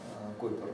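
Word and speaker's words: Kuiper: Так вот его фамилия пишется. Читается Купер. Ну и, соответственно, значит, вот эта дискообразная внутренняя часть получила название Койпер Белт, то есть Койперовский пояс.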